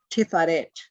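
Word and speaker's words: Tiphareth: But about that, it's called Tiferet, T-I-P-H-A-R-E-T-H. PH is, as in fuck you.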